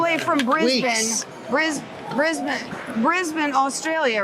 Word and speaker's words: Brisbane: come all the way from Brisbane bris brisban bris been Australia right that's even the correct pronunciation I said it it's right and what